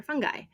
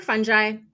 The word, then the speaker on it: fungi: mushrooms are a very unique food in our diets because they are not plants; they're fungi, or fungi. I've heard that both pronunciations are acceptable.